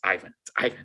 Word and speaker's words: Ivan: And in every language except English, it's pronounced Ivan. Like from Chinese to Hebrew to Spanish, it's Ivan. But in English, it's Ivan, right?